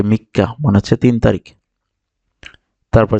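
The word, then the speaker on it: みっか: আছে তাই এটা কাটা দ্বিত উচ্চারিত হবে যে মিক্কা মি লিখলাম তারপরে শেষে কা আছে এটাকে আমরা দুই বচন করব মিক্কা মিক্কা মিক্কা মিক্কা এখানে দেখেন তিনটা টান আছে এক দুই তিন দেখেন খুবই সহজ কান্তি যে মিক্কা মানে হচ্ছে তিন তারিখ তারপর চার তারিখে বলে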